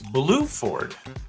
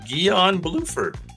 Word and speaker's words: Bluford: I think you pronounce his name Guion, Guion, G-U-I-O-N, and his last name is Bluford. So that's a mouthful. Guion Bluford.